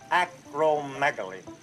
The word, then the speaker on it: acromegaly: Acromegaly. The accent is on meg.